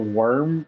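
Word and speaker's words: wyrm: pronounce his Val entine you said the worm bone in yeah like w-y-r-m M so that's the plan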